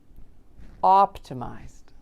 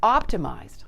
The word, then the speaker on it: optimized: Optimized. It's optimized, not optimized. Emphasize that ED sound so it's pronounced as a D. Blend smoothly with the Z that comes before it.